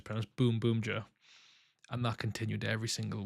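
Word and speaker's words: Boonboomger: buun buer his comments people saying it's not pronounced buun buer it's pronoun boom Boomer and that continued every single week and I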